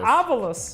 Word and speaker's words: Avulus: from uh a aulus how do you say this team's name avalus Aus avalus yeah it's new all right